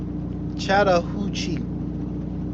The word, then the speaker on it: Chattahoochee: Did I say that right? Chattahoochee for a load. How far is that though from where you at? I knew I said it right. I got an education. I could read. You know what I'm saying? You just gotta make sure you sound your syllables out. That's all it is.